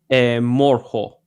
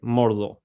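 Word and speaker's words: Mordhau: Morho. Morho. It's like Cavarry H. I know. Mordo. Sorry. Mordo. How do you spell it?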